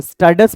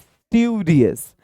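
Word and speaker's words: studious: अगर मैं पढ़ाकू होता, पढ़ाकू यहां पे थोड़ी इसकी प्रोनाउंसिएशन देखेंगे, बहुत सारे बंदे इसको स्टडस पढ़ते हैं, इट्स स्टूडियस।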